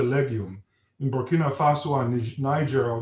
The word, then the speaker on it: Niger: in Bina Faso and Niger or ner is the French pronunciation we we use CI